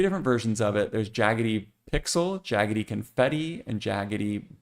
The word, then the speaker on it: Djaggety: This is from Typeland, and it is called Djaggety. So it's got a D in it, but the D is silent.